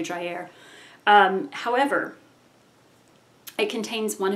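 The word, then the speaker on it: Dreyer: I believe Carl Drier but I'm sure it's not pronounced Dryer. It's probably Driair.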